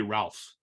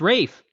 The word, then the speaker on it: Ralph: moving on to Eric why do they pronounce it Rafe when it's actually Ralph which is it's not it's not it's Rafe yeah yeah it's spelled Ralph right I mean I don't